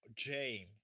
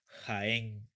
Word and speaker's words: Jaén: Jaén, not Jaén, Jane. Jane, Mary Jane is not the girlfriend of Spider-Man. No, Jaén, Jaén.